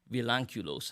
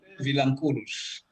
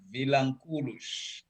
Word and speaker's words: Vilanculos: Today, I'm speaking to my new friend, Julio Andre Vilanculos. How close did I come to saying that properly? Vilanculos. Vilanculos. I put the Yes. emphasis on the wrong.